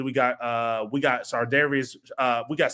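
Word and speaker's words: Charvarius: got uh we got sardius uh we got C Ward from the 49ers sardius yeah it's hard to pronounce but Shard Darius Ward from the 49ers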